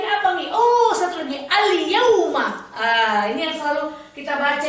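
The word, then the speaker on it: اليوم: Apanya yang jelas Umi? Huruf iya-nya. Karena ya itu termasuk ke dalam huruf alif lam koma riyah. Contoh al-yauma. Al-yauma.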